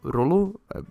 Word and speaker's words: Rolo: Add to that the fact that somehow, somewhere, some way, Lelouch now has a little brother called Lolo, or Rolo, depends on the way that you pronounce it, but anyways, and what the hell, right?